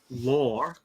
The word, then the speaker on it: lore: So they're having, like, you know how it's normally part of UFO lore. I'll say in Australian English, we'd say law, and it sounds exactly the way we'd pronounce LAW, but I'm saying LORE.